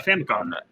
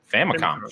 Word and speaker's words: Famicom: I could not pronounce the first word in that, so I will not even try. Famicom. Famicom.